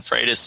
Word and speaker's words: Frates: of his mouth were hey I'm Freitas because I've been pronouncing that Freights in my head all week so that's okay so